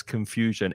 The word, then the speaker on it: confusion: on the noun as confusion. It's not the stressed syllable. There are three Oh, yeah. syllables in confusion, and it's the middle syllable that's stressed.